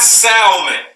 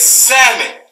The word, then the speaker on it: salmon: black people number one it's not Salman it is salmon salmon I don't know